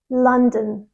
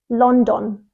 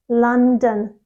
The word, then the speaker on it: London: stress is usually on the second syllable so it's commonly mispronounced as London London it's not London it's London London how would you say